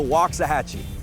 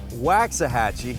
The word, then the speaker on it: Waxahachie: about 30 miles from downtown Dallas welcome to Waxahachie not Waxahachie the obvious way to pronounce it Waxahachie but walk doesn't mean well